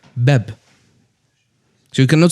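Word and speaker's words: باب: Yeah, so if I say the word door in Arabic means bab. Bab, that's ba, alif, ba. Yeah. Ba, this elongation of fatha to alif.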